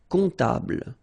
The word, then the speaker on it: comptable: And then, strangely, this P is not pronounced. Un comptable, all right?